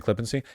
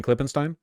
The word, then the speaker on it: Klippenstein: Stein in German, but people don't pronounce it Stein, right? Like Ken isn't German enough that people would be pronouncing it Stein. Like that would be if you were German, but as a non-German speaker, I would just say Ken Klippenstein.